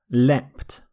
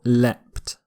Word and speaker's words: leapt: Leaped or leapt. So a slightly different pronunciation. The T ending, here, leapt, is slightly more common in British English, and the ed ending is slightly more common in American English, but they're both okay.